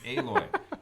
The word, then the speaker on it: Aloy: I think it's alloy Yeah, that makes sense because of the metal theme of the game, right? or Aloy. It's Aloy. It's different than the way it's spelled.